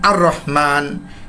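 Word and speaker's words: الرحمن: নিচের তালিকাটি যদি আপনি ভালোভাবে খেয়াল করেন আপনি দেখতে পাচ্ছেন যেমন আর রহমান। এর পূর্বে আলিফ লাম থাকা সত্ত্বেও আমরা এ লামটা উচ্চারণ করিনি। পরবর্তী র শব্দের সাথে আমরা মিলিয়ে দিয়েছি।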